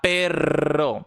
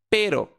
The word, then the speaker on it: pero: Essa palavra aqui eu não vou falar perro, eu vou falar pero, porque é o R de vibrância fraca igual o português.